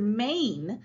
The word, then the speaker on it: mane: Notice the E isn't making its own sound. That's the word mane, like a lion has a mane. On our Magic E anchor chart, I'd put that right over here because it has a long A sound.